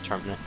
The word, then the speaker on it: Termina: I used to pronounce it Termina, and then I realized, oh wait, it's Termina.